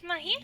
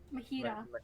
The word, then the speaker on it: Mahira: I think it's It's Mahita. Mara. Mahira. Mahira. Mahira. Yes. It's like pronouncing Hiro.